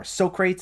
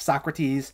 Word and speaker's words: Socrates: this blank stare and they mispronounce people's names like beet oven instead of beethoven or soakrates instead of socrates plus some of the